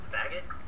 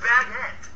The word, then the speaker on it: baguette: Baggot? What'd you just call me? I asked if you wanted the baggot. It's pronounced baguette. What? It's French!